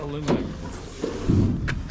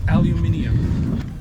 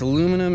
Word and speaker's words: aluminium: Technically, it's not aluminum. It's aluminium. It's aluminum if it comes from the States.